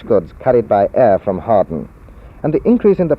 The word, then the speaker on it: Hawarden: and not so much Harden in fact when I first came to this area I couldn't even pronounce it I thought it was howardan or haarden it isn't a Welsh